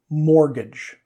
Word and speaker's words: mortgage: This has a silent letter. Borrowed this from French. Mortgage.